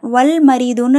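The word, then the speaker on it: والمريض: சரிங்களா இங்க பாருங்க வல் மரிதுன்னு நாம ஏன் லாமு சேர்த்து உச்சரிக்கிறோம் ஏன்னா மீம்ங்கிறது கமரியாவுடைய எழுத்து மீம்ங்கறது கமரியாவுடைய எழுத்து கமரியோட எழுத்து வந்தா லாம உச்சரிக்கணும் நாம கரெக்டா சோ அதனாலதான் வல் மரிது அப்படின்னு நம வாசிக்கிறோம் புரியுதுங்களா சோ ஷம்சியா இந்த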